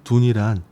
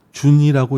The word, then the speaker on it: 屯: 먼저 술의 둔께의 제목인 둔이란 군대가 주둔한다고 할 때의 둔처럼 나가지 않고 안에 머무르면서 힘을 비축하는 상황을 상징하는 단어입니다. 고로 이것을 간혹 준이라고 읽고 그 의미를 어려움이라고 해석하기도 하는데, 이는 완전한 해석은 아닙니다.